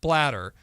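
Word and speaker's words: Blatter: And you have now the former president of FIFA, Seb Bladder, saying, I think that's how you pronounce his name, last name, B L A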